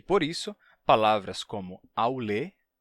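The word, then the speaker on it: αὐλή: período do grego koiné, passaram por uma mudança na pronúncia. Aulê, aulê, avlê, avlê, avlê, avlê. E, posteriormente, avli, com a transformação de e se fechando em i, avli.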